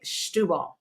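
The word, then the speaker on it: Setúbal: the, correct me, but I've heard them say Stubal. Oh, okay, Stubal. Okay, I It stand looks corrected. like I won't go there, Yeah, it's It looks spelled like Setubal.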